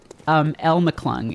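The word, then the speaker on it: LMcClung: El McClung is how it's actually meant to be pronounced.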